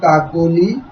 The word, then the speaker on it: কাকলি: এই যে মধ্যবর্তী অ, এই মধ্যবর্তী অ এর উচ্চারণ কাকলি, কাকলি।